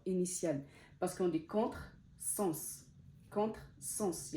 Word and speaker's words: contre-sens: initiale parce qu'on dit contre-sens il y a le premier mot et le deuxième mot sens c'est avec un S donc ça se prononce S parasol parasol parce qu'on